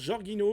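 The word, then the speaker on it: Jorginho: Alors, je sais pas du tout si ça se prononce Jorgino ou Yorgino mais théoriquement c'est Yorgino si c'est un en tout cas c'est un italien un italien mais ça fait très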